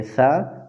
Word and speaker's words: ثا: حضرات، یاد رکھنا چاہیے کہ ثا زبان کی نوک اور اوپر کے دانتوں کے کناروں کے ملنے سے ادا ہوتے ہیں، اس لیے اس